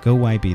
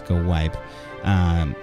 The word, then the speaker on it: GoWiPe: go YB go away go YP that's not how you say it it's go wipe which is golems for